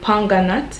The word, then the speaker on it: pomegranate: the anti-aging properties of pomegranate you know jamaicans can't really pronounce that word we call it ponga nut in jamaica and hops extracts and